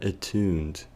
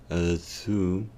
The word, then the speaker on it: attuned: considerar la palabra attuned, que se pronuncia como si la U fuera acompañada por una O, attuned, y la E fuera muda, aunque también la letra A del comienzo tendría un sonido tipo AU, attuned, attuned.